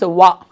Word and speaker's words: one: O-N-E 1. 1 means wa. Wa means, is it a consonant sound or a vowel sound? Wa. Wa. Consonant sound.